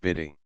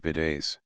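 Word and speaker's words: bidet: figuratively a young wench Bay commonly pronounced bidy a kind of tub contrived for ladies to wash themselves for which purpose they best ride it like a French Pony or post horse called in French Beday ble excellently she weeded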